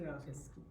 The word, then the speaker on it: ASCII: I don't know how guys pronounce this. Yeah, we say ASCII.